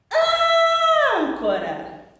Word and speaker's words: âncora: Âncora. Qual sílaba que eu pronunciei na palavra âncora com maior intensidade, com maior força?